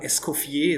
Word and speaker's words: Eskofier: on the internet so my name is escoffier it's the french pronunciation i hope you're i